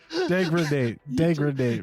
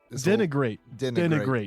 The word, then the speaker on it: denigrate: Degradate, right? You just combined the banned word with segregate. No. Oh my god. Just hold on a fucking moment. Denigrate.